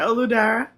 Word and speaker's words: Oludara: I know you go by, but how do you pronounce your full name? You said it right. Olu Dara.